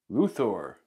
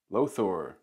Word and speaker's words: Løthur: uh Thor it's um a lot of Americans and other people around the world say lothor but it's actually is uh the O that you see here uh it's ooh it's Danish and I